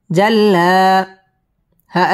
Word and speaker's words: جلاها: جيم لم زبر جل لم كرا زبر لا جلا ها ألف زبر ها جلاها والنهار إذا جلاها والنهار إذا جلاها ওয়াও ঠোঁটগোল করে উচ্চারণ করতে হবে।